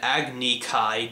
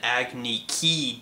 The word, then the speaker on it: Agni Kai: Instead of an Agni Kai duel, we have an Agni Ki duel.